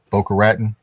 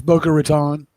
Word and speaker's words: Boca Raton: Boca Raten, Florida, told Canadian mortgage professional in January. Yes. Boca Raton.